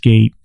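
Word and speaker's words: Gaite: it's GA ite but it's pronounced gate it's a Dutch name move she is awesome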